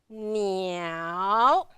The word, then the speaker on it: 鸟: And the third characters, 鸟, 鸟. Remember the third one, very dramatic, going down and up.